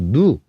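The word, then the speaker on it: ν: 주변 속도 누. 누. V로 읽어도 되는데 응. 원래는 그리스 소문자 누니까 응. 누라고 해.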